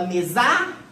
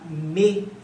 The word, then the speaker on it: mesa: Você fala mesa ou você fala mesa? Você fala mesa. Então, qual que é a sílaba tônica? É o me.